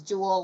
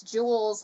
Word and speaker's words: Jules: And I said it was Jewel, like the stone. It's Jules, like our Jules, same spelling.